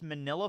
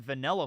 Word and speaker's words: manila: pretty cool yeah wait it's pronounced manila folder I always pronounced in vanilla folder now I'm pretty sure it's Manila it's a manila folder right we gotta figure